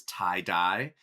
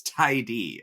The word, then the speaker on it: Tydy: I will say I did think it was tie-dye because it's spelled Tydy, but it's Tydy.